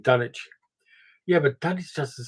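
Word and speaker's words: Dunwich: good B it also why does everybody just mispronounce Dum which it should be pronounced like Grenich i. E dunich Yeah but dun doesn't sound as good as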